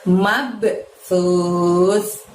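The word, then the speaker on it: مَبْثُوث: Jadi tipis pengucapan S-nya. Mabsus.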